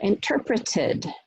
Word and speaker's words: interpreted: So interpreted, interpreted, tid, ud. It's an additional syllable.